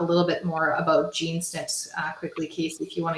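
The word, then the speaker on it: SNP: than myself yeah so a snip and how it's spelled it's an acronym is s-n-p and it's a single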